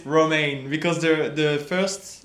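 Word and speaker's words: Romain: How do you spell that? He's like R O N A I M. In France, it's Roma, but for the Austrian people and all the British people, it's Roma because the the first letter like or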